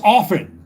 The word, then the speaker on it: often: It's often. T is silent.